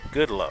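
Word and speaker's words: Goodloe: G O O D L O E. What do you think about that, producer? Goodlow. Goodlow. Phonetically, that's what it is.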